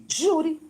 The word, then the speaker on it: júri: júri escolhe Os Vencedores júri é uma palavra paroxítona e não oxítona não ajo ri-me Então como ele tem força o que que acontece para eu falar júri eu vou ter que acertar o Ju certo então a regra